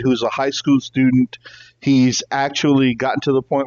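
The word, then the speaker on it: Aech: and but it's uh it's pronounced H but it's spelled a e CH so it's weird and then the other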